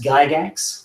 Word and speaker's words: Gygax: The G is a G, but if you pronounce it like a kid, you go gut. Axe is axe, but if you kind of glue all those together, you get axe, and that's Gygax.